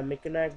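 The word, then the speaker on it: Mackinac: the bridge layout next one is mechak Bridge pronounced like Meo the meak bridge was opened in 1957 and connects the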